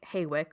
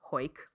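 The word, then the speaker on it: Hawick: h-a-w-i-c-k it looks okay it looks like haywick or Howick but it's pronounced hoyk which just proof that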